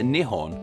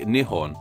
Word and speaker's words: Nihon: native name Nihon yet in the name Nihon the character is pronounced as Han not motto this is because kanji can have multiple pronunciations with these pronunciations having different names too gun pronunciation is the pronunciation of kanji brought over from Korea and in goon the character is pronounced as hon like Nihon and the Kun pronunciation is